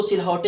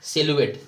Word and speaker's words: silhouette: इसका प्रोनाउंसिएशन देख लो, इसको सिलहौटे ऐसा कुछ नहीं पढ़ेंगे, इसका प्रोनाउंसिएशन हमारा होता है सिलुएट। क्या इसको हम पढ़ेंगे? सिलुएट। जी हाँ, स्पेलिंग इसकी है SILHOUETTE, सिलुएट।